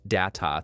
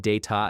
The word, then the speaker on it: Data: The name Data was intended to be pronounced Data throughout the series. Stewart said Data at the first table read, no one corrected him, and the British pronunciation was used across every episode that followed.